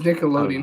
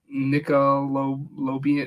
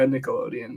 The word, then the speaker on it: Nickelodeon: that one clip of the dude pronouncing Nickelodeon wrong no no no was it Nickelodeon yeah it was Nickelodeon he called like he called it like nickel loan it was funny it